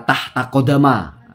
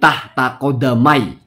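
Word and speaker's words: تحت قدمي: Yang pertama, cara bacanya tidak ada riwayat yang membaca tahta kodama. Secara nahwu juga masalah itu ya. Karena kodama itu menjadi mudhof ilaihnya tahta. Jadi tahta kodamai.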